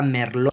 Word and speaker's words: Merlot: es la cabernet sauvignon la uva merlo se escribe merlot pero la que no se pronuncia merlo cabernet sauvignon merlot cabernet